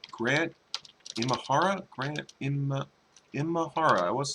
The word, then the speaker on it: Imahara: Grant Imahara.